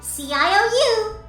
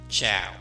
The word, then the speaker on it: ciao: Okay then, CIOU. Ciao. It's pronounced ciao.